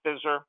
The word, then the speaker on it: FSSR: program called Financial Strategies for Successful Retirement, FSSR, pronounced FISR.